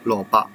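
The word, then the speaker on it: 蘿蔔: But for the white one, it is pronounced as 蘿蔔, 蘿蔔.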